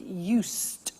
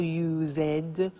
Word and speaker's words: used: listen to the pronunciation I said used with T sound used not use it or use ed used that's very important